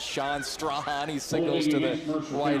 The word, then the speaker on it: Strahan: I always like to mess with when Chloe Strahan was at Rockridge. She graduated last year. Everybody, all the PA announcers could never pronounce their last name right. It was always Strachan or Strachan. It's Strahan, everybody.